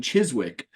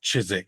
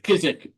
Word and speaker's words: Chiswick: moment ago um at the Cross Keys in Chiswick uh where the manag uh the managing director of yeah go ahead just because you'll get from people about this it's pronounced chisik chisik right chisik I knew immediately when I said